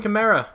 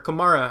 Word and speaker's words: Kamara: Alvin Kamara, or Kamara, however you want to pronounce it. I've heard it both ways.